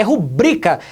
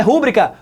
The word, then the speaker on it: rubrica: daí é sua rubrika não rola gente é rubrika esta palavra ela é paroxítona a sílaba tônica dela é o brilho e por